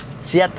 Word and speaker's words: kyat: jet চিয়াত, ও চিয়াত, নট কিয়াত, KYAT, বাট তারা pronounce করা হচ্ছে চিয়াত। অর্থাৎ এখানে কে সি উচ্চারণ করে থাকে বা সি বলে সম্বোধন করে থাকে।